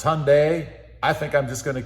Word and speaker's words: Hyundai: A lot of you have been getting on me about how I pronounce Hyundai. It's Hyundai.